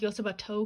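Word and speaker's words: よつばと!: I know it's pronounced Yotsuba To because this and is like a toe, but Yotsuba is a adorable slice of life comedy coming of age series.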